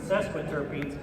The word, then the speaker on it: sesquiterpene: Now, if you add 3 of them together, 3 isoprene units, you get a sesquiterpene. 4 syllables. I'll say it again. Sesquiterpene.